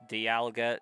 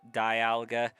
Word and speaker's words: Dialga: It's because a vowel after another vowel typically makes the long vowel sound.